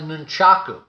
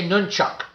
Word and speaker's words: nunchaku: version of that the nunchaku now some people say nunchuck because again the Japanese many times with the final vowel on a particular word they may not say it like we may say